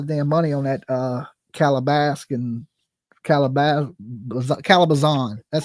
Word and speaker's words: Calabasas: I spent a lot of damn money on that Calabasas.